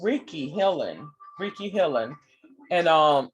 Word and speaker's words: Reiki: so um what is ricky ricky is and that's w uh is pronounced as ricky and is spelled as r-e-i-k-i ricky is a japanese